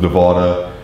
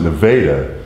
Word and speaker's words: Nevada: And so we're lucky that we don't pronounce it Nevada, because there's a city in Missouri that's spelled Nevada, but pronounced Nevada.